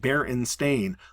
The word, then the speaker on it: Baronstein: And to clarify, he says it barren stain like coffee stain, jello stain or wine stain.